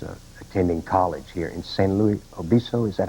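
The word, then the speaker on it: San Luis Obispo: uh she was uh attending college here in san luis obiso is that how you pronounce it yes sir sam elizabeth and i've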